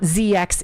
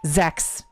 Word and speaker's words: ZX: And yes, I am pronouncing that correctly. It is not ZX, it is Zex.